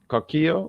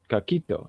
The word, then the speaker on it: coquito: He's probably taking a coquillo. Well, how do you say that? Coquito.